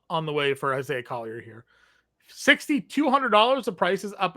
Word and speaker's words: Collier: a trible double on the way for Isaiah klier here $6,200 the prices up again a little bit but I would imagine we'd run right back to the well with Isaiah Collier here yeah we've said it right he had